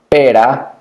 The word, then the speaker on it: perra: hit ramiro for example pera which is pure perra the one hit the light sound the strong sound but notice that you